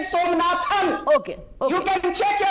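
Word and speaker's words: Somanath: It is not Somnathan. It is Mr. S. Somnath.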